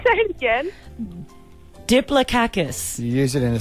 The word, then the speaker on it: diplococcus: It's D-I-P-L-O-C-O-C-C-U-S, but you apparently pronounce the C's as K's and the O's as A's.